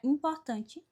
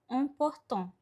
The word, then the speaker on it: important: Por exemplo, temos a palavra importante no português, que no francês vai ficar important. Percebe que é um som bem nasal, important.